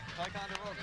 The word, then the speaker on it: Ticonderoga: Ticonderoga.